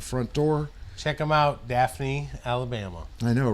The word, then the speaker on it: Daphne: Daphne. Daphne. Yeah, Phonics, I even wrote out. Yes, the F is silent.